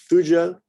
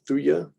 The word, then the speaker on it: Thuja: Tagetes, Taxus, Teucrium, Thalictrum, Thlaspi, Thuja, or Thuja. You go with either one on that one.